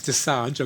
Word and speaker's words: Dosanjh: So his surname's Dosanjh. I got that right. How did you pronounce the first one?